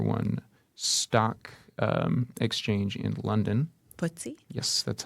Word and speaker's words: FTSE: Footsie? Yes, that's how you like when little kids pronounce it.